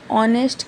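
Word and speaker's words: honest: अगर ए लगाते हैं तो वह गलत होता है क्योंकि प्रोनाउंसिएशन में तो ओ आ रहा है। भले हमने यहां पे एच लिखा है। एच साइलेंट है। उसको कंसीडर नहीं करना है।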